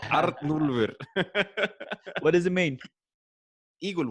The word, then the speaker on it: Arnúlfur: I'll teach you how to pronounce it. Like Arnulfur.